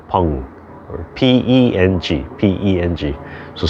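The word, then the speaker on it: peng: allowing things to round that's what we call pong or p-e-n-g p-e-n-g so spelled ping but pronounced pong and if we really attend to those four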